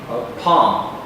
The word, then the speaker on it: palm: Palm. The L is silent here.